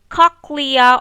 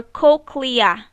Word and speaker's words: cochlea: like a snail right this is called the cochlea or cochlea cochlea or cochlea they are both correct pronunciation so this snail-like part